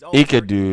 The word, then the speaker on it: Enkidu: Enkidu, that's how you say it.